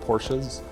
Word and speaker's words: Porsche: So, yeah, I spelled it Porsche. Porsche. It's two syllables.